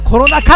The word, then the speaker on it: コロナ禍: まあコロナ禍って読むのがね、